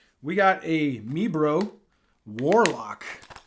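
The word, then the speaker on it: Warloq: got a me bro warlock this is called a warlock but it's spelled w-a-r-l-o-q not l-o-c-k warlock all right we got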